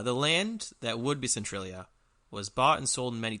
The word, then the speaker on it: Centralia: here about centralia pennsylvania can you try and pronounce that again central is c-e-n-t-r-a-l-i-a central okay i said right okay centralia pennsylvania